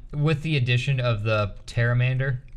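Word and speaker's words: Pterramander: the addition of the terramander pateramander no the p is silent probably the terramander terramander the p i promise you that p is probably silent whoops like that guys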